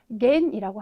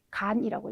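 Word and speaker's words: 願: 근데 대부분 네, 원이라고 하는 경우에는 네, 어떤 한자든 간에 n 아니면 거의 다 겐이라고 하는 발음으로 읽히는 경우가 아주 대다수예요. 거의 대부분이라고 해도 될 정도이거든요. 그런데 이 원할 원자 같은 경우에는 네, 여기에서는 네, 겐이 아니라 답이 간이라고 읽어주셔야 되는 게 정확한 발음이거든요.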